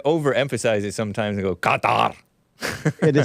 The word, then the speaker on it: Qatar: I believe it's pronounced Qatar. Qatar.